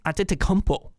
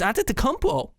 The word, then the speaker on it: Antetokounmpo: Because the best player in the East, according to the value system here on team rankings, is Giannis Antetokounmpo.